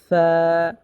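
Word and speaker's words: ف: Agar সাথে লাগি যেমন সামনের উপরে দুই দাঁতের আগা নিচের ঠোটের পেট এর সাথে লাগবে। ঠিক আছে? যেমন ফা ফা কফ কফ উচ্চারণ হবে চার নাম্বার মাখরাজ থেকে।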